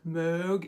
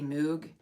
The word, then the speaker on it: Moog: the pronunciation is like Moog. It's some sort of German thing where you have to like round your vowels to an O but then say an E.